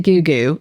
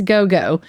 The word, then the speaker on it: Gou Gou: I pronounced it goooo and then I realized no, it's go- go.